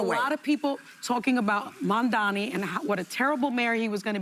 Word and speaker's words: Mamdani: I got stomach poisoning trying to take a shot every time someone says Mamdani's last name wrong. You mean Mamdani? Mambabi. Mamdupada. Mandandi.